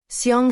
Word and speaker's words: Xiang: Xiang sort of rhymes with the English word song, except that the first sound is halfway between S and SH.